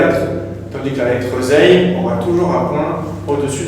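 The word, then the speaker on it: زاي: maintenant voir la lettre zay. La lettre z, au niveau de la prononciation, elle va venir se prononcer comme la lettre z que nous on retrouve en langue française.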